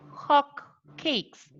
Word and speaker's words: hot cakes: Entonces, por ejemplo, en vez de pronunciar hot cakes, we say hot cakes, hot cakes, hot cakes, hot cakes, Hotcakes.